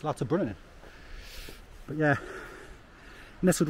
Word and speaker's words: Lauterbrunnen: cuz I was pronouncing it wrong I was pronouncing it l brunin it's l brunin but yeah nestled right in the Swiss up